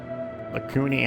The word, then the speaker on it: Lakuni: Lakuni, huh? I think I used to pronounce it to myself Lasuni.